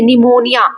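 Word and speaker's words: pneumonia: ऐसे निमोनिया इसमें पी हम प्रोनाउंस ही नहीं करते।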